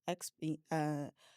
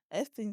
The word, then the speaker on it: Epstein: Because with Xpeen, is that how you say his name? Epstein stuff.